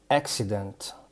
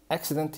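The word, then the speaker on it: accident: طيب لو حرفين سي ورا بعض، طيب حرف السي ده جه بعدي اي اي واي، لا، يبقى تنطق ك. طب والتاني ده جه بعدي اي، يبقى التاني تنطق س، يبقى اكسيدنت، اكسيدنت يعني حادثة.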